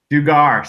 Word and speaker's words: Dugar: Did I pronounce that last part right? Is it Dugar? Dugar.